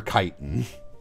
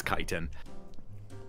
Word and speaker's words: chitin: Also, yeah, I'm pretty sure it is chitin as opposed to chitin. Oh, it's for sure chitin. Yeah, it's chitin.